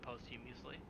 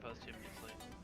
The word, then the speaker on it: posthumously: You can pardon people posthumously. Oh, yeah. I think Susan B. Anthony got pardoned posthumously. I'm pronouncing that word wrong. Posthumously.